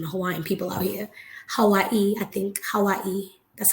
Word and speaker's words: Hawaii: the form of well the guardian owl of Hawaii that's the correct pronunciation I actually found out from the Hawaiian people out here Hawaii I think Hawaii that's how they say it